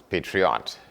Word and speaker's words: PAE3OT: Our discussion now is with a man called Dave, and the other part of the name is PAE3OT, and that is pronounced as Patriot Maiku.